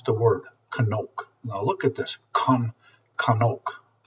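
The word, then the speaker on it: חנוך: It says this is how you pronounce the word kanoke.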